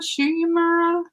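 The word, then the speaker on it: Shu Uemura: I love Shimuria? I don't even know. I don't know. Come on, James. How do you say it? Shuyumura.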